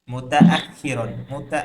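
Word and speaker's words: مُتَأَخِّرًا: আস্তাইকিযু মুবাক্কিরান, আস্তাইকিযু মুতাআখিরা, মুতাআখিরান, আখিরান, দেখেন মিম একটা ভিন্ন অক্ষর, তা একটা ভিন্ন অক্ষর, হামজা একটা ভিন্ন অক্ষর, খ একটা ভিন্ন জি। অক্ষর, এখানে দুইটা অক্ষর আছে, প্রত্যেকটা জি। ভিন্নভাবে উচ্চারণ করতে হবে।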